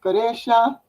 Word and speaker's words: Quraysh: It's pronounced Goresha, and they also had extended to the Levant.